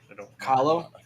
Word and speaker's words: Kahlo: Kahlo? Yeah, Kahlo.